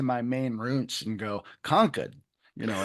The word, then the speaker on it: Concord: And we should say that you are coming to us from Conquered, Massachusetts as opposed to Concord as some people might mispronounce it.